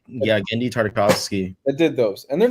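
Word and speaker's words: Genndy Tartakovsky: they're not bad I don't think there it's greny tartakovsky I can never pronounce his name yeah gendy tartakovsky that did those and they're not bad movies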